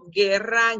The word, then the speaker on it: guerra: So combination G-U-E, combination G-U-I, the U doesn't sound, and you pronounce it with a g sound.